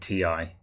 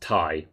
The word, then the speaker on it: Ti: a set as a non-philistine i've always said ti good for you chris yeah for those of you who don't know nvidia have said it's pronounced tai but this is kind of like the the